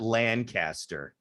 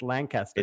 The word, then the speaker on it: Lancaster: the way people listening it's not lancaster it's lancaster it's lancaster yeah right yeah i get it right people don't pronounce it right so uh yeah